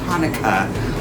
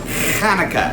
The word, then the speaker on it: Chanukah: the soft age like Hanukkah Hanukkah cool with Hanukkah however in Hebrew we say Chanukah oh I like to